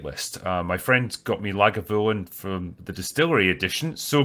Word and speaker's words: Lagavulin: I feel like Le Gobelin, is that how you say it? Or I've been in America too long. Yeah, so it's Lagavulin.